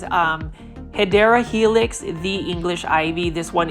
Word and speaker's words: Hedera helix: We've got a Hydra helix, or the correct way to say it is Hedera helix, the English ivy.